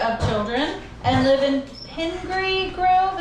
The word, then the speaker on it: Pingree Grove: They also have a trifecta of children and live in Pingree Grove. Is this how we pronounce this? Pingree. Pingree Grove, the northwest suburbs.